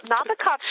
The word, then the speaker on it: Nabokov: Well, Nabokov's name is Nabokov. But if I say it like that...